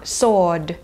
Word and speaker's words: sword: ะ เ ป็ น ค ำ ว่ า sword เ ห มื อ น กั บ ไ